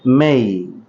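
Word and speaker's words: may: তারপরে শব্দটি দেখতে পাচ্ছেন এম এ ওয়াই। এটাকে আমরা সাধারণত মে বলে থাকি, এর সঠিক উচ্চারণ হচ্ছে মেই, মেই।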